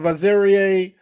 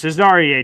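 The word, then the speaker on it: Azareye'h: I really like the draft pick of Azerier. Definitely just butchered that. Thomas. You did? It's Cesar Thomas.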